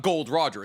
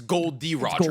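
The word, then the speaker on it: Gold D. Roger: It's not Gold Roger. It's Gold D Roger.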